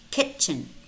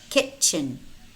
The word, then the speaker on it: kitchen: We also have words which contain the letter T, but it's not pronounced. It's silent. Castle, castle. Kitchen, kitchen.